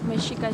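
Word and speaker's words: Mexica: The name Aztec was given to us by the Spaniard, but the real name is Mishika. It's spelled M I X E C.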